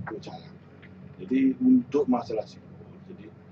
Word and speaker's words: pecalang: Dari kata tulisan itu sebenarnya kan bukan bagian pacalang gitu ya. Jadi pacalang, bacanya pecalang.